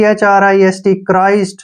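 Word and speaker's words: Christ: एच आर आई एसटी क्राइस्ट सी एच से क और आ से र और आई से आई हो गया क्राई एस से बन गया स और टी से ट क्राइस्ट क्या पढ़ेंगे इसको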